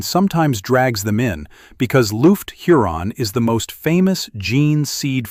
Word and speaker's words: Lufgt Huron: Lufgt Huron, pronounced Lufgt Huron, was the Chapter Master who began withholding the